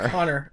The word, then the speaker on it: Connor: We say Connor, and he says Connor. Connor. Yeah. So I'm trying. A-H at the end. It's an A-A. Connor. Connor. All right, boy. It's Connor.